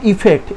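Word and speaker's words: effect: চলো এর উচ্চারণটা দেখি, আই প্লাস ফেক্ট, অর্থাৎ কি বুঝলাম, ইফেক্ট। এর উচ্চারণটা কি হবে, ইফেক্ট, ইফেক্ট মানে হচ্ছে এই রেজাল্টেরই, এই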